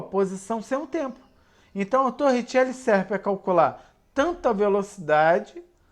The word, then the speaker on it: Torricelli: equação de torricelli ou a gente escreve a gente lei como torricelli porém se escreve torre chepo porém se lê como tô richelle na verdade não é